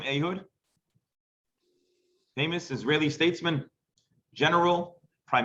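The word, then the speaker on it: Ehud: here is an interesting fact about this guy ahood well first of all anyone know her name ahood famous israeli statesman general prime minister ayodh barak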